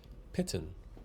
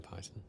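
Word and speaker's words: Peighton: Google says Pitten.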